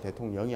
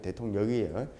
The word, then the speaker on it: 대통력: 해 가지고 대통력이라고 해가지고 발음 잘하세요 대통령이 아니고 대통 역이에요 대통 역이라 그래 가지고